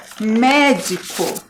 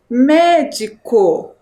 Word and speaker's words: médico: agora então para a próxima palavra a palavra médico então última sílaba co penúltima sílaba de e ante penúltima S sílaba me médico e aqui qual a sílaba que vocês pintaram